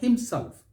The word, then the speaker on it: himself: check that how about the word himself himself himself stress is on the second syllabus don't say himself himself